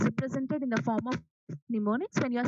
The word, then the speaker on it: mnemonics: M is silent here. You call it as mnemonics, which is nothing but combination of different.